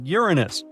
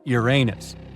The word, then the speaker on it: Uranus: Actually, astronomers say we should be pronouncing it like Uranus, not Uranus.